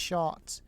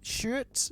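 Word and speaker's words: Sjoerd: to be called Shurd, Dutch name pronounced short. Oh, short. Shurt or short? Short.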